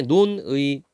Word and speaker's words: 논의: 그래서 원칙상 의로 발음해야 되지만 이로 발음하는 것도 허용한다.